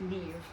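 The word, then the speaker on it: Niamh: nivadita NIV like the Irish name spelled n-i-a-m-h pronounced Neve everything was from Birmingham and had come up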